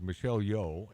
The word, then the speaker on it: Michelle Yeoh: Well, according to Mark, the correct pronunciation is Michelle Yeoh, Right.